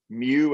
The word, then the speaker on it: mu: goes back to that we've talked about mew at the beginning again if you know pokemon that's the name of a pokemon that's how you say it but that's that coefficient